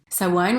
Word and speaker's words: Samhain: back to Celtic Ireland 2 000 years ago Sawan was really seen as the division of the